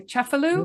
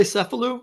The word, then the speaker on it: Cefalù: Cefalù. Yeah. Okay, yeah. Like sort of the north. We say Cephalou, I guess, in the United States, but I think you're pronouncing it correctly.